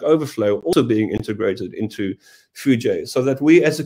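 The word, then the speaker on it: foojay: So the J is from JDK, and we've added the A and the Y to make it clear how to pronounce it, which gives us a bird. So With Fuji, what we have is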